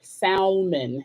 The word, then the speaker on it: salmon: I always want to pronounce the L, salmon. It just seems like it should be pronounced.